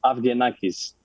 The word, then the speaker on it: Avgenakis: no problem uh my my last name is afghanistan oh yeah you do that a lot better